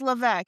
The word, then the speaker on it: Levesque: It's Levesque. His last name is pronounced Levesque.